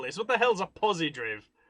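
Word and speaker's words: Pozidriv: Now, I'm not pronouncing that wrong. It's got a Z in it and no E. So it's not Posidrive, it's Posidriv.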